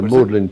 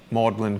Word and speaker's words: Magdalene: you pronounce that. Yeah, Magdalene College.